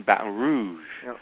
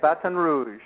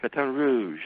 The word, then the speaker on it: Baton Rouge: all that I know you are you're in Bat Rouge did I pronounce that right yeah Baton Rouge Baton Rouge that's how they say it batan Rouge batan Rouge I'm I'm pretty good at lingu which by